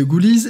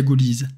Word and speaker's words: Ghoulies: Sauf qu'en anglais, un autre mot est phonétiquement identique à Ghoulies.